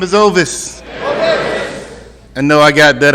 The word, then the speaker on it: Ovis: everybody I'm in the addict my name is ois I know I got that unusual name I usually have to spell it for people cuz they'll call me ois I got family members that's been calling me Otis All My Life um you know it's an